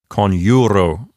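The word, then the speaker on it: coniuro: So the penult is a long syllable, and it will keep the accent for itself. And the word sounds like conjuro.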